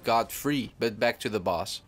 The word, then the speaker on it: Godfrey: to the realization that I I've been pronouncing his name wrong I used to say Godfrey instead of God free but back to the